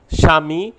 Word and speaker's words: স্বামী: শব্দের আদিতে বফলাযুক্ত হলে ব অনুচ্চারিত হয়, তবে যে বর্ণ সংযুক্ত হয় সে বর্ণ উচ্চারণে একটু শাসাঘাত লাগে, যেমন স্বামী, স্বাধিকার, জ্বলছে, দ্বিতীয়।